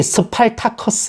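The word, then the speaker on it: Spartacus: 바로 1960년 작 영화 스파르타쿠스 흔히 습할 타 커 스 라고도 헤어 그 영어식 발음을 달라졌네요 그리고 2000년 자 글래디에이터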